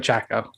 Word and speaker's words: Chacko: Wacko Chacko. Wacko Chacko. It's just exactly how it seems like it would be spelled. WHACKO. And then just the same thing, but with a C. CHACKO.